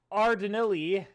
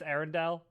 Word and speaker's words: Arendelle: is about the romance brewing between elsa of ardenelli i can pronounce aaron no it's it's arendelli uh yeah i know i i know it's arendelle uh but but no it's uh it's r